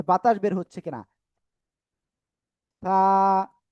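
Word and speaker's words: ث: আপনার জিহ্বার আগাটা উপরের 2 দাঁতের আগায় লাগান, লাগিয়ে হালকা নরম করে বাতাস বের করেন। দেখেন এভাবে করে যে বাতাস বের হচ্ছে কিনা। থা, থা, থা, থা, এই যে থা, থা, থা।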